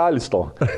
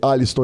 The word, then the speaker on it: Aliston: Falei, Aliston, ele falou, cara, obrigado, você é a única pessoa que pronuncia meu nome correto. Na hora que eu li a mensagem dele, ele falando que o pessoal fala com R, já ficou fácil de eu escapar.